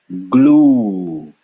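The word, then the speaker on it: ग्लू: pronounce this this is half of a g followed by L so how do we pronounce this glue glue you see that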